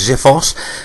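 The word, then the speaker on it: xiphos: smell xip H OS I think it's pronounced as if us and this was a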